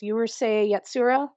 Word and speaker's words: Urusei Yatsura: I have a hard time pronouncing it. It's Urusei Yatsura, the one that you were suggesting earlier.